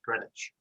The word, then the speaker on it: Greenwich: known as Greenwich G re n Gren wi grenwich spelled green witch but it's pronounced Greenwich so when we have Greenwich mean